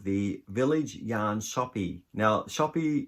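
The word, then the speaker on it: Shoppe: Now, Shoppy is spelt with a double P-E, like the old-fashioned way, and I believe that's how you pronounce it.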